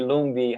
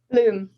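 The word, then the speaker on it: Lumb: I would say like Lumi. How do you say how do you pronounce your last name? Loom. It's a silent B.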